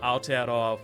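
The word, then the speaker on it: Aotearoa: no way oh listen um Americans don't know all 50 states yeah that's fair to um to answer your question it's um Al which is for say that again to me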